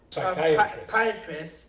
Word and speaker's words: psychiatrist: Why can't you hear a psychiatrist using the bathroom? Because the... Go ahead. That, I can say. Okay, go ahead. Because the P is silent.